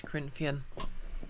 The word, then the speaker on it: Corinthian: krithian oh fair enough wait is it pronounced creepy nor corinthian no it's corinthian i never know that